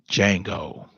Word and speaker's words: Django: how they view us Django the D is silent this is how we